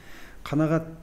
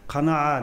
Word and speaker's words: қанағат: Қанағат деген сөзді айтамыз әрдайым. Қанағат деп арабша айтсаң, сөздік мағынасы. Анықтамасы басқаша екен, ол бірінші произношение дұрыс емес оларда. Қанаа дейді олар. Біз қанағат деп айтамыз.